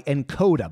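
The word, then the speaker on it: Nkoda: This episode is brought to you by Encoda. By the way, that's spelled N-K-O-D-A.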